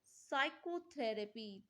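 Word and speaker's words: psychotherapy: silent in the word साइकोथेरेपी तो साइको में आपका पी साइलेंट हो जाता है यानी कि सी ऑप्शन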